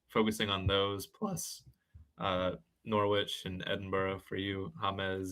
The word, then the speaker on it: Norwich: So it's like porridge, but Norwich.